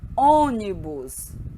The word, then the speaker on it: ônibus: Colônia, lônia, ônibus, você. Então, observem, né? O som é fechado. Lom, lom. Pronunciem. Olha a boca de vocês como fica. Ônibus, ônibus.